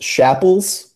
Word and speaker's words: Schapals: sure yeah no worries it's pronounced chapel's so just rhymes with apples we're Snapple or sample you know if you're